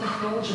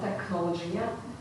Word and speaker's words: technology: For example, not technology, but technology.